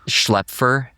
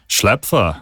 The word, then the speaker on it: Schlaepfer: It's Schlaepfer. Schlaepfer, yeah. Because in Germany, they would probably say like Schlaepfer or something like that. That's actually closer than the way Schlaepfer.